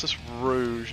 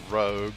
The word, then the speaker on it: Rouge: from the x-men but Rouge is sort of like you know a French word for I guess makeup or some battle night